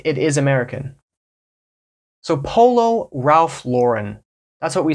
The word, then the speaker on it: Ralph Lauren: and a little bit French and they'll say Ralph Lon Ralph luren Ralph luren this is getting a